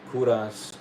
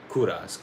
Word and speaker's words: Kovras: Obviously, this is for my brand new hair brand, Kuras. It's spelled like Kovas with a V, but the V is just for fancy, but it's supposed to be like my last name, right? Kuras.